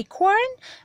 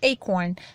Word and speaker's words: acorn: acorn که در امریکن صدای آر رو میتونیم غلیظ تلفظ کنیم، acorn، و در بریتیش acorn بدون صدای آر، acorn یا acorn.